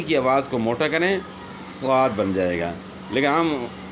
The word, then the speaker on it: صاد: ان کو سمجھانا ہے کہ سین کو موٹا کریں صاد بن جائے گا. آسان سا جو ہے نا طریقہ ہے سمجھانے کا کہ سین کی آواز کو موٹا کریں صاد بن جائے گا.